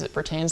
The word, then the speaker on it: Bertans: But it's Davis Bertans, I pronounce the name.